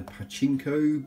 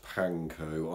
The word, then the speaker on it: panko: need a lot of this these are the pachinko breadcrumbs or figures plants you basically find in